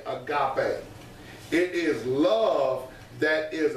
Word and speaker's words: agape: The pronunciation of it is A-G-A-H, pay. P-A-Y. Pay, agape.